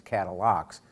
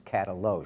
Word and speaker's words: Katalox: when I saw it at first it was cattle ox but no it's cattle oh it's pronounced this is a very hard dense wood